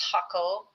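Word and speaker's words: Jacó: That's how it's pronounced, Jaco, and where there's another Playa Hermosa that I was staying at.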